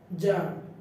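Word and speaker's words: czar: সি এবং জেড পাশাপাশি হলে সি এর উচ্চারণটা রূপ পাই, যেমন জার, এখানে কাজার বলা যাবে না, জার।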